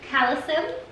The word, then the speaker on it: Calecim: It's Leah with Skin Beautiful Rx, and today I am joined by Laura from Calecim.